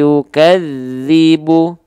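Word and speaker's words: يكذب: sekali ditahan dua harakat kalau ditahan dua harakat berarti kita bacanya begini perhatikan ini ada dalal ada lam ada tasdidnya misalnya konsep tasdid itu semua tahan dua harakat jadinya begini aritaladzi yukadzi begitu Emang bacanya harusnya ya cukup tekan aritadzi yukadizibu aritadzi yukadzibu paham gak bedanya antara tasdid dan e antara tekan dan tahan ya tekan bukan tahan Iya kalau tahan nanti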